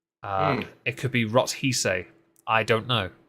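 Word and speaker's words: Rothesay: as The Duchess of rothsay I don't Scotland Scotland do something weird with their pronunciations and spellings they never sound like how they're spelled so I've no doubt got that wrong um it could be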